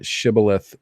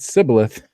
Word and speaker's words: shibboleth: So they told them, say shibboleth, and if they said sibboleth, they killed them.